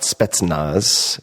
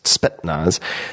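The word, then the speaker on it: Spetsnaz: want to mispronounce always it's not spetnaz spetnaz the elite Soviet special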